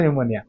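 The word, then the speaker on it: pneumonia: निमोनिया बुझे निमोनिया बुझे देखो निमोनिया एन ठू नुहे पी ठू स्टार्ट बाकी उच्चारण निमोनिया है ना चलते एबे साइंस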